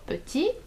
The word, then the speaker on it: petit: It's the same for petit, which means little. If you wanna say a little boy, you will say un petit garçon. You don't pronounce the T at the end.